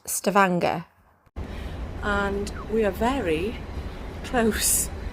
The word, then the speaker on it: Stavanger: our first protocol which is Norway or since Stavanger which we think is pronounced Stavanger and we are very close to the town